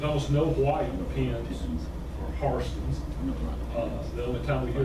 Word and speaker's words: Hairston: The white people who are named H-A-I-R-S-T-O-N are not Hairston, they're Harston. They pronounce it differently.